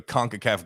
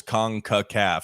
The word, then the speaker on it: CONCACAF: I can't remember correctly, but it's obviously there's 3 syllables. CONCACAF.